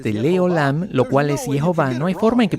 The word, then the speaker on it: Jehová: Nosotros no sabemos quién es este hombre, pero él recibió esto como una tradición de que la pronunciación verdadera del nombre es Jehová, y la forma en